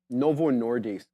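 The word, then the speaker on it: Novo Nordisk: very much Adera um Novo nordis I want I say dis because Adera told me how to say it properly um Adera they're Danish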